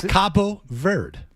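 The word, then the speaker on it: Cabo Verde: K Verd I was told Verde it's Ver it's Cababo Verd.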